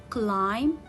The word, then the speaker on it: climb: a silent letter so if you see letter b comes after letter m after letter m so it will not be pronounced it will not be red so as in the word climb i will not here read letter b it will be a silent letter com it will be